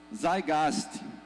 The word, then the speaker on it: Zeitgeist: Se escreve assim, mas se pronuncia com o T do lado da pronúncia. Zeitgeist.